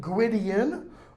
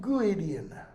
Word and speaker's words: Gwydion: you can pronounce it Gwydion. W in Welsh is pronounced as U. Okay? Two D's together are pronounced as Z. Two L's together are pronounced like an H and an L together.